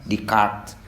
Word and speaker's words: Descartes: Ditulisnya mah Descartes, dibacanya Descartes.